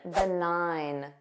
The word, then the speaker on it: benign: at least number 13 benign notice that silent G benign nine benign this means having no significant